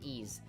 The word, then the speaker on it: Ys: is it wise you know no it's not pronounced wise it pronounced E's so I'm pretty sure this game came out